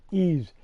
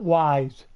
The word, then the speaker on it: Ease: It's pronounced E-A-S-E. E's, not Y's. Some people would say Y's, and I don't know why.